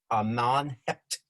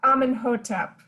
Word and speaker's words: Amenhotep: of egypt the pharaoh at that time was amman hept the first forgive me for any mispronunciations i picked this all up by visiting